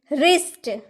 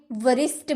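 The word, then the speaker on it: wrist: क्या बोले रॉन्ग गलत रिस्ट रिस्ट जो हम लोग का कलाई होता है रिस्ट आपने कभी वरिष्ठ बोला है नहीं ना क्योंकि डब्ल्यू तो चुप है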